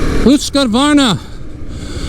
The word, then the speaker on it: Husqvarna: And here we go on the Svartvilen Husqvarna.